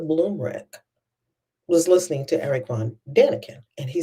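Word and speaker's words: von Däniken: Eric von Danakin.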